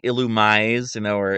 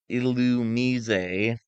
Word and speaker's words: Illumise: So the problem is people thought it was like Illumise, Yeah. but it's Illumise.